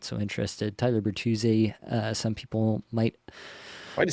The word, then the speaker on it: Bertuzzi: Tyler Bertuzzi, some people might.